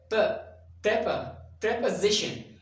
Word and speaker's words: preposition: Pre is incorrect. Pre. You need to pronounce the first syllable as pre, and the second is po. Not po is incorrect. Preposition, and stress will be on the z sound.